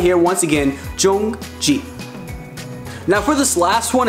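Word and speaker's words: 정지: the car, what you want to say is jongji. Jongji. Spell it right here once again, jongji.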